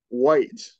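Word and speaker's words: Wight: white and white yeah and I understand why you want to say right because it's it's spelled it's spelled like it's right but there's just not the not the r in there but yeah it's will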